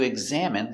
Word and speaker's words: examine: examining the patient pronunciation examine GG egg Z eggs eggs a EXA M exam exam examine examine examine stress on the second syllable examine examine examine examine